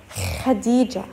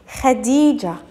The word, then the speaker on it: Khadija: We have خديجة خديجة خديجة. دائما يا مس when you see K and H, K and H, we pronounce them as خ خ.